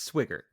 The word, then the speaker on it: Swigert: __ ] up okay and it's swiger okay so s-w-i-g-e-r-t how else would you pronounce that swigert oh